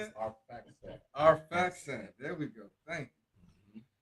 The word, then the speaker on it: Arphaxad: The children of Shem, Elam and Ashur, and Alpahad. How you say it? Arphaxad.